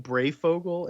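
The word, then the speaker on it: Breyfogle: I've been saying Brayfogle in my head. I don't know if that's accurate. No, you're right. I'm adding a G in there.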